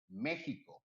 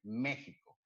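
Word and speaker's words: México: or pronounce it is Mexico. The X, it sounds like an A, like an H. Actually, I'm mixing languages now. Like an H. So we pronounce it in Spanish, Mexico.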